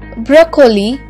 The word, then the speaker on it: broccoli: c o l i broccoli it's often incorrectly pronounced as broccoli or broccoli but the bra sound at the